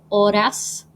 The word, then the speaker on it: horas: ours is las horas the h is silent so ores minutes is los minutos